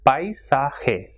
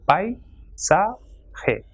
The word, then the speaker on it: paisaje: For example, AI will be pronounced as I, and the word is paisaje. So as you can see, it has got three syllables, and when A and I are coming together, it will be stressed and it will form a syllable. So paisaje. Same way, when the two